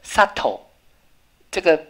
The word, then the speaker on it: subtle: way，不可能。There's no knowing 是不知道。There's no doubt 是无这个怀疑，doubt 是怀疑。所以各位同学又出现一个 subtle，这个 v 又不发音了。好、哦，你就学到这些很多，因为 o u 后面啊 subtle s u v